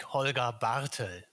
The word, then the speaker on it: Holger Bartel: I would pronounce it like Holger Bartel. There you go. Just a little more emphasis there at the front, at the first That's syllable.